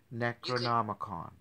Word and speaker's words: Necronomicon: Necronomicon. Necro meaning dead, right? Okay. Nomicon, like the book of the dead.